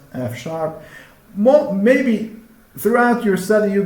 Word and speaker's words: F#: This is pronounced F#.